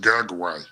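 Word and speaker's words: Gugwe: your typical Bigfoot well it's actually pronounced gug way g g u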